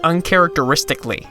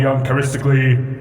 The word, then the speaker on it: uncharacteristically: themselves in save for one late game character who mispronounces the word uncharacteristically time is short so i will be uncharistically direct don't know why that